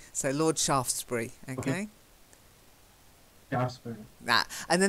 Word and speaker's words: Shaftesbury: got statues all over Shaftesbury not SH afters it's a silent E so Lord Shaftesbury okay yeah that and